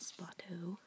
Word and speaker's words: Spoto: I mean, there's tons of them, but this one's by Donald Spoto.